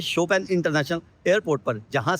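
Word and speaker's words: Chopin: यहां पर लिखा है सी एच ओ पी आई एन ए। हम पढ़ेंगे इसको चोपीना। और बहुत से लोगों के कमेंट आ जाते हैं प्रोनाउंसिएशन पे। अब सी एच ओ पी आई एन को क्या पढ़ेंगे हम? उसको पढ़ेंगे हम चौपीना। लेकिन यहां पर बोला जाता है शोपेन।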